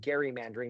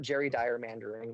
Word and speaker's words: gerrymandering: I want to applaud Bill because he pronounced it gerrymandering. That's the actual way to do it. It's not Jerry Dyer mandering. None of that.